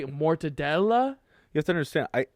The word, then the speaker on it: Mortadella: even the Italian pronunciation mortadell is that the Italian pronunciation yeah that's how they say it so you're saying Italians don't say Mortadella you have to understand